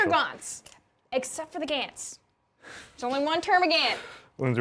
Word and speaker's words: Gaunt: It's adorable watching her trying to subtly correct B prime on Gants versus Gaunts.